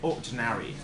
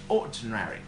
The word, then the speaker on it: ordinary: like fortune re okay ordinary of course this wet stress always falls onto the first syllable it's got ordinary ordinary or something like that